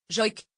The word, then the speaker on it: joïk: peu à la manière du joïk prononcé, joïk, le chant des Sam, peuple autochtone de l'Arctique continental que l'on appelait autrefois les Lapons.